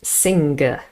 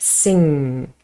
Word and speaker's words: sing: But in all the other words, N, G, the G is not really pronounced. We don't say sing. It's just sing, sing, thing, bring.